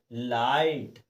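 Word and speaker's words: light: दिए हुए हैं जैसे लाइट देखिए इसमें आई के बाद जीएसटी दिया है दिया ना दोस्तों तो देखिए हमने इसमें लाइट यानी आई को हमने आई ही पढ़ा लाइट आइट यानी आई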